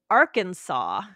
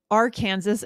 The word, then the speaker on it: Arkansas: Of course, if there was a state called Kansas, then Arkansas must be Arkansas. Arkansas, right? But it's not.